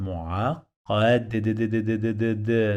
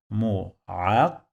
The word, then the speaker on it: معقد: And I say what? Mu'aqad, the sound of D in the end. We call it dal in Arabic. So now it's like this. Mu'aqad, mu'aqad, aqad, aqad.